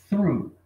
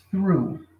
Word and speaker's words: through: Você coloca a língua entre os dentes e assopra assim, ó. Through. Through, ok?